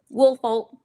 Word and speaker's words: Woolfolk: Woolfolk. That's so it's a long O on folk, right?